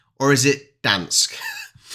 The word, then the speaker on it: Gdańsk: She's got a Polish friend at work who actually says it's just Dansk. You don't pronounce the G. Can you guys confirm that, please? Is it Gdansk or is it Dansk?